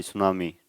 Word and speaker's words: tsunami: जैसे सुनामी word है वो टी से स्टार्ट होगा, लेकिन टी साइलेंट रहता है, तो हमें पता ही नहीं होता बहुत सारे बच्चों को कि सुनामी टी से भी स्टार्ट होता है। TSUNAMI, सुनामी, टी साइलेंट है वहाँ पे, ऐसे ही